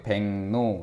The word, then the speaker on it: 백로: 둘 다 바뀌어. 백로 요렇게. 이게 상호동화 됐죠?